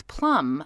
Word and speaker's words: Plumb: there inc empire and it's plum with a silent b apparently we like our